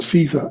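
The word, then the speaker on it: CSER: study of existential risk CS or Caesar as we pronounced it um and we sort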